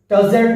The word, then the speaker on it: tousled: The first one is tousled head. Be careful. E silent. You have not to pronounce E.